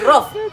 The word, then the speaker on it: rough: just say J, but they are pronouncing it as F. It's not good. This is not good. Is it good? It's not good. Are you getting me? You're saying rough. You're hearing F inside.